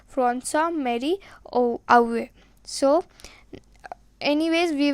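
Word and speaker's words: François-Marie: so Mary away now if you read this pronunciation by going word to word it will be Frank boys Mary or Edward but it is not like this as he was French he was from France therefore the pronunciation will also go in the same language so it will be from some Mary oh oh so anyways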